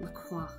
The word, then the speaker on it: La Croix: Whenever people talk about the brand of sparkling water called, apparently people pronounce it LaCroix, but the French is La Croix, and it makes her